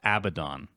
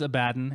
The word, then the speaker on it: Abaddon: they sound better right so Abaddon it is a baton and I don't I understand that's how you say it doesn't sound good to me so I'm gonna say a baton things like that Aeon